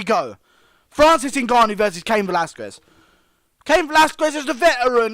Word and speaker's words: Velasquez: And you have to pronounce the Quez. Velasquez.